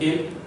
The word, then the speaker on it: ils: Sir, IL, it is pronounced ill, and ILS, it is also pronounced ill, and ELLE, it is pronounced L, ELLES, it is pronounced L.